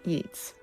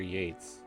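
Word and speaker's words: Yeats: I think J Harrison likes yeets. Yeets or yeates? Well, it's spelled yeets. Y E A T E, but it may be Yates.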